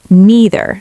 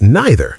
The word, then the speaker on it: neither: American English usually neither sounds like me. British English usually neither sounds like nigh. Again both are correct.